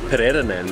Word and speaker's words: Pererenan: Been a bit of a day of mispronunciations. So it was actually Pererenan that we were at earlier.